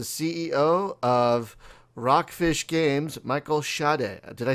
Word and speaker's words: Schade: Say hello to the CEO of Rockfish Games, Michael Schade.